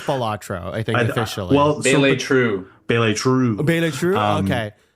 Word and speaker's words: Balatro: How to pronounce Balatro? Bele True. Okay, this says Balatro. Okay, well, modern Italian. Balatro.